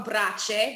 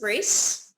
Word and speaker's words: BRACE: a restaurant that um I would like to call BR but I just discovered that you pronounce it brace brace exactly yeah the English version yeah which is English